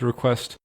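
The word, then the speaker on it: reqwest: a request made with request. r e q w e s t request, that's how the library is spelled.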